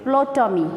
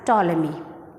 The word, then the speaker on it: Ptolemy: pronounce it ptolemy with plotumi okay it's not blue tommy p is silent here so we pronounce it as ptolemy so here uh our